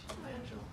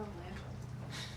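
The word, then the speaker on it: Langille: Langell. Oh, Langell.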